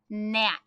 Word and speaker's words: gnat: If G is silent, like in gnaw, try and read this word. Check your thinking. Gnat. What is the silent letter? G for gnat.